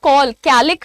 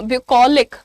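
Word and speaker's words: bucolic: आपका ये वर्ड है प्रोनंसिएशन कैसे कॉल बोलते हो ना कॉल कैलिक नहीं बोलना ब्यू कलिक ठीक है सी A double L is call so ब्यू कलिक ये एक एडजेक्टिव होता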